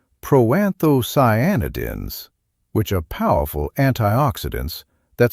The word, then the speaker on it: proanthocyanidins: The seeds contain proanthocyanidins pronounced pro-anthoscyanidins which are powerful antioxidants that support blood vessel flexibility.